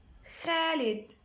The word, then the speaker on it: خالد: خالد. خالد. طبعا خالد اولها حرف الخاء، فما عنديش حرف في الانجليش الساوند بتاعه خاء، فبجيب ايه؟ دمجنا الحرفين دول مع بعض الكي والاتش قلنا خالد.